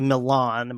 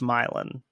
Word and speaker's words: Milan: There's a city in Ohio that looks on paper like a Milan, but it's pronounced Milan.